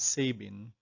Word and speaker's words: Sabin: be oral polio vaccine a little disclaimer though the developer of the opb vaccine is pronounced as sabine the ipv developed by